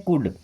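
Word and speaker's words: could: यहां पे L silent होता है ना क्या पढ़ते हैं कुड सकता था सकती थी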